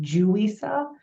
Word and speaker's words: Yuisa: having a name and my name is actually pronounced juwisa the wise with a J and it's it's very